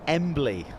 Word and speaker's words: Embley: It is It's Embley. I've been uh I've been mispronouncing.